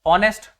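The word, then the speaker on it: honest: अगला देखो, ऑनेस्ट। ऑनेस्ट में भी क्या है, हम पढ़ तो रहे हैं ऑनेस्ट, लेकिन एच आ रहा है, लेकिन उसको हम बोलने में यूज नहीं कर रहे, इसी को बोलते हैं साइलेंट।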